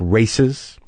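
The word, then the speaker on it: RAICES: education and legal services it's pronounced like races the website is Rai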